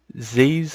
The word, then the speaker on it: XIEs: Download it, save it again, and then we move on to the next one, which is Z's, I believe is how it's pronounced, XIEs.